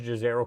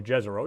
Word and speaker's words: Jezero: on the floor of a mars gizero crater or jezero depending how you want to pronounce it our mission team members